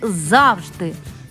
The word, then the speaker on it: завжди: разом і разом наступне слово треба говорити завжди наголос падає на перший склад і в останньому слові